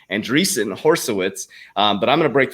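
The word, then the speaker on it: Andreessen Horowitz: sec now consults for anderson or andreessen i kept saying it wrong horseowitz so that's for my fan out there that kept clowning me andreessen horsowitz um but i'm gonna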